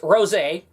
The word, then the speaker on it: Rosé: It's pronounced Rosé, and what Rosé was...